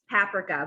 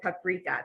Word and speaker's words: paprika: a little bit of, I'm gonna call this paprika, but I know most people pronounce it paprika.